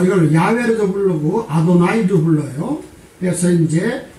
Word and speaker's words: 야훼: 그렇게 발음상 읽어야 된다는데, 자, 뭐 그것도 맞는 얘기겠지만 이걸 영국식 발음을 하면 야훼죠. 야훼. 이 영국식 발음은 야훼입니다. 왜? 이것이 W로 발음해야 되니까.